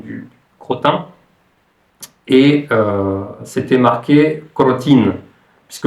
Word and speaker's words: crotin: c'était marqué crotine puisque le son nasal le son 1 n'existe pas en russe et j'ai demandé donc à la vendeuse de me donner du crotin donc à la française du crotin et à ah crotine B c'était amusant parce que la façon dont prononcer crotin crétin euh le son n'existe pas en russe donc bon euh je lesi